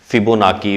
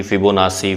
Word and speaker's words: Fibonacci: Actual में इसकी जो प्रोनाउंसिएशन है फिबोनाकी, फिबोनासी, फिबोनाची डिफरेंट मिलेंगे आप लोगों को, लेकिन हम लोग इसको क्या रीड कर रहे हैं, फिबोनाची सीक्वेंस। अब एक्चुअल में ये सीक्वेंस